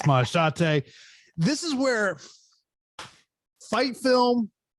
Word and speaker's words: Maheshate: If you look at Maheshate, if you just like peek at your line, you might think it says Misha Tate the way it's spelled out, but it's Maheshate.